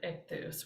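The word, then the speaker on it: ἰχθύς: But here we have some Greek, and this is iota, chi, theta, upsilon. And then when we looked at manuscripts last time, we learned that what looks like a C is actually a final sigma. So ichthus, ichthus, ichthus.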